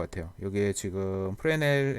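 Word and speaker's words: Fresnel: 이제 프레넬 리케이션 인데 여기에 매수는 묵음 이더라구요 프레넬 이라고 부르고 그 상 역시 사람이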